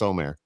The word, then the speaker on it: Omer: It's Omer.